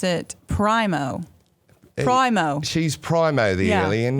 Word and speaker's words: Primo: will pronounce it Primo.